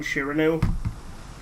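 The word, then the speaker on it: Sirene: how in the dub they couldn't decide how to pronounce siren's name so they just stuck with the Japanese pronunciation shiranu I have to admit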